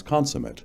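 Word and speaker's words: consummate: I was 5 years a college graduate before I learned to pronounce consumate as an adjective. Consumat.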